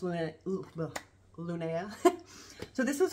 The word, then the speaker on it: LVNEA: It's LVNEA, but it's pronounced LVNEA.